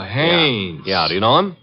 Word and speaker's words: Haines: Haines. H A I N E S. Ah. Oh, Haines. Well, there was a fellow named Hines used to fish out here. no, not Hines, Haines.